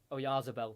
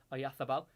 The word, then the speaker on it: Oyarzabal: He's been replaced by, here we go, I've got to put a lisp on now, Mikel Oyarzabal comes on of Real Sociedad. That's how you pronounce it in Spain. For English it is Oyarzabal, but Spanish pronunciation is Oyarzabal.